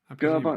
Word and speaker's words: Gerber: watch like that, the design files and and GABA files, how do you how do you pronounce that? Like I just walk in with my German accent. That's good. But I think is it Gerber? Gerber.